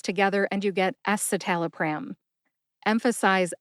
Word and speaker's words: escitalopram: for Celexa now let's talk about esaal pram esal pram is generic for Lexapro ESAT alpram has five syllables s satal a pram now if you